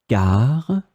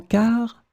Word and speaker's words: car: In this lesson, we will see together two words that are written differently but pronounced the same way. Car, car.